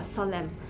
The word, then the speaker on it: solemn: pronounced s column uh solemn s o l e m n author a u a-u-t-u-m-n likewise when n comes after m in the ending part of the word it is silent and next silent letter